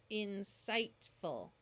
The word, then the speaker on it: insightful: IGH has the long I sound, and the GH is silent, as covered in a previous video. Insightful.